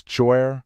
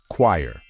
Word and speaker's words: choir: a moment to think if you think that the right way to pronounce it is choer or coer you are wrong this word has its special way of pronunciation and you just have to remember it the correct way to say it is choir it's very similar to how the word quiet should be pronounced but without the letter T for example the choir